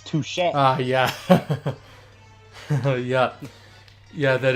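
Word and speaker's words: touché: It's touche.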